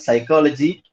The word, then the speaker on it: psychology: In the word psychology, P is silent.